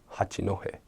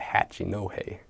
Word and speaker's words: Hachinohe: And there was an area close by called Hachinohe, but a lot of the Americans called it Hachinohe, and stuff like that.